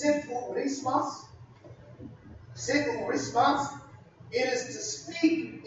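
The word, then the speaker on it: ψιθυρισμός: It comes from a Greek word that's pronounced siphurismas.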